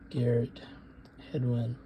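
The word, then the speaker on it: Garrett Hedlund: Daisy Ridley, Ben Mendelsohn, and the guy from Yellowstone, Gail Bergenham. Maybe I'm mispronouncing his last name. But it's a good movie. Garrett Hedwin. There you go.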